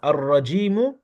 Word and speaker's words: الرجيم: Attention, le ra, c'est une lettre solaire. Donc, on va pas prononcer le lemme de l'article. On va directement sur le ra. Ar-ra.